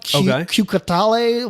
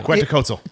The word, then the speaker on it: Quetzalcoatl: The Mexican like dragon death god, Cucatale, whatever the fuck it is. Okay. Yeah. Quetzalcoatl.